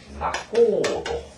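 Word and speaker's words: 仲人: 위에는 뭐라고 읽느냐면 뭐라는 사람이냐면 중매인이라고 그러고 밑에는 장사치 이런 말인데 이것을 뭐라고 읽냐면 낙고도 이렇게 있죠.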